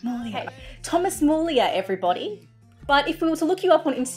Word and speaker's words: Muglia: it my family says mulia where the g is silent okay thomas mullia everybody but if we